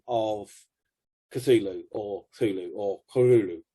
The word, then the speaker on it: Cthulhu: tells you you don't you don't pronounce the c or you half pronounce the c you know so there's either thulu or cthulhu so you're doing those